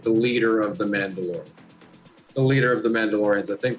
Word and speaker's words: Mandalore: The leader of the Mandalorians is pronounced Mandalore, which is the way that they have it spelled. So, not the way of the Mandalore, like in the Mandalorian. It's the other way.